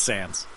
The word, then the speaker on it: Sans: Is it pronounced Sans? It's Sans.